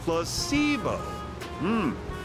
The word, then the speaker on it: placebo: Repeat after me. Placebo. The stress is on the middle syllable.